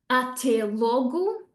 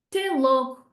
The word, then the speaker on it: até logo: Até logo will turn into te logo, te logo.